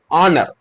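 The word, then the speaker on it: honour: होगा बट not sound आवाज ना देगा जैसे ऑनर नर मतलब एच यहां पर क्या होगा साइलेंट हो गया क्या हो नर एन नर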